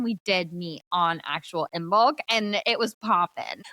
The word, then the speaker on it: Imbolc: had our Imbolc meeting, which I think it's pronounced Imbolc, and I apologize, but it's so ingrained in me to say Imbolc.